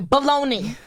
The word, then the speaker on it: bologna: Spanish so I'm like how is b-o-l-o-g-n-a baloney yeah I don't get it it ends with the a yeah that's happened to